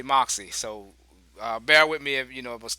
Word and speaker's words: MOXC: Hey, we I don't know if you guys do like me, but I say I pronounce the symbol. I know that's kind of crazy. You're supposed to say MOXC. I just say Moxie.